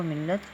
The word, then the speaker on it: ملت: پہ ہم آئیں گے، میم کے نیچے زیر، لام پہ شد اور زبر لگاتے ہوئے تشدید بھی کہا جاتا